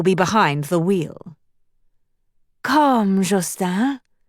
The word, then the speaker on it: Justin: Come, Justin. She said his name as it was meant to be said, in French. Soft J and long U, emphasis on the second syllable, the N silent, as she knew no